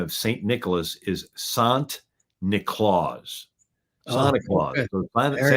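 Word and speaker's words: Sint Nicolaas: The Dutch pronunciation of St. Nicholas is Sant Nicolaas.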